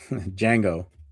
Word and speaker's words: Django: Django. Yeah, I always put the D in it.